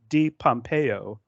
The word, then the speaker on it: DiPompeo: to welcome the stunning ifbb figure Pro Julia D Pompeo is that right on the pronunciation that is correct okay cool uh Julia has been competing in bodybuilding since 2016.